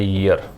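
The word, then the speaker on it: year: इसका जो प्रोनाउंसिएशन है वो ये वाला है, ईयर, ये कॉन्सोनेंट साउंड है इसलिए ए का प्रयोग है।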